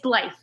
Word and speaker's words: Blythe: It's Blythe.